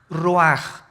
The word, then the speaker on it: ruach: cosa el ruaj que se escribe r u a c h ruach en el hebreo y se pronuncia igual ruaj Aquí vemos que al